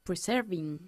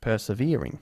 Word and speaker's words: persevering: to persevere in English it's worth preserving no persevering persevering it's worth persevering for example